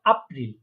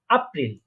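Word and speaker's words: April: জার্মানে বলবো আপ্রিল, কারণ আমরা জানি এটাকে আ উচ্চারণ হয়। এটাকে বলবো আপ্রিল।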